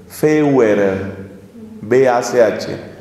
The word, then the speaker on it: Feuerbach: El siglo XIX es el siglo de un hombre llamado Ludwig Feuerbach, que se escribe Feuer, B-A-C-H. Se pronuncia Feuerbach.